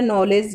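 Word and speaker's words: knowledge: नॉलेज ज्ञान, इसमें भी के की साउंड साइलेंट है, सब एन से शुरू हो रहे हैं।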